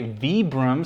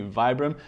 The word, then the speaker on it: Vibram: Apparently I'm supposed to say Vibram, so apologies for mispronouncing that because my instinct is to say Vibram.